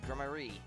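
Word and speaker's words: Gramarye: It's pronounced like that then, Grammarier.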